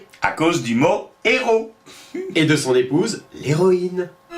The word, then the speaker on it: héros: il nous dit que quand on dit des héros, on ne prononce pas le S, donc on ne peut pas confondre.